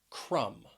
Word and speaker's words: crumb: Next is the word crumb.